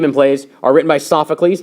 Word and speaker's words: Sophocles: plays are written by sophocles not sephocles um it deals with